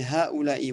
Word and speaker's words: هؤلاء: Alors c'est haoulaï, ouais, c'est pas, ça ressemble un peu à un a, mais c'est haoulaï. Enfin, ce que tu as prononcé, j'ai cru entendre a.